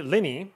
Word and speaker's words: Liene: that set introducing the lenny i believe you pronounce it l-i-e-n-e portable printer and this